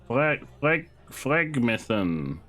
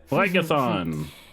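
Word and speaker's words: Phlegethon: Phlegmethon. Oh, I'm not pronouncing that one correctly. How do you know Aphrodite exactly? Phlegathon.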